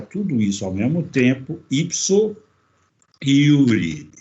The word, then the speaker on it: ipso iure: isso ao mesmo tempo, ipso iure. Se escreve ipso, do jeito que se fala, jure. O J em latim tem o significado e a fonia de I na língua portuguesa.